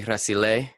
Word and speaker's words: Rasile: Italian is actually Rasile, but we Americanized it.